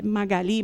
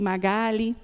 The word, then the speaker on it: Magáli: Meu nome é Magali, pronuncia diferente. É, e mas é Magali. Magali.